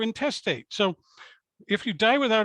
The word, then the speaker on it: intestate: said to be intestate it looks like interstate without the r you're not interstate you're intestate so if you die